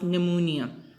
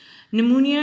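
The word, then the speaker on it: pneumonia: की बात करेंगे जो कि हैं आपके पास निमोनिया हो मैं इसमें आप इस आयरलैंड होता है इन या पढ़ा जाता है पीछे जो है वह उसकी उसे हम जो है वह बोलते नहीं साइलेंट होता है निमोनिया इससे इंफेक्शन और सब्सक्राइब बटन पर अगर यह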